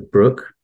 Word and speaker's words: Broke: becomes captain of the brook um which is spelled broke but for some reason pronounced Brook and unfortunately has two